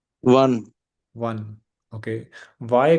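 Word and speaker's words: wann: जी तो बताइएगा के बट को कैसे कहें प्रोनाउंस करेंगे हम जर्मन में वस वस ओके और व्हेन को वन वन ओके ओके वाय को वरुण वुम ओके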